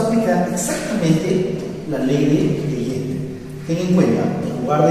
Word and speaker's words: Legendre: Se escribe Legendre, se pronuncia Legendre.